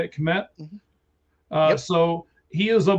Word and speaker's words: Kmet: That's how you say it, Kmet?